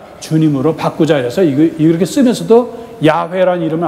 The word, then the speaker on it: 야훼: 옛날에는 이걸 발음을 잡아서 여호와라는데 지금 학자들이 얻은 그 결론은 야훼가 맞다 그래서 가톨릭이 제대로 발음하고 있는 거예요.